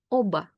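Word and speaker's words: оба: say lop lop now if I take a different word where B is followed by a vowel so it's not the last letter then B will stay voiced Oba Oba and that word means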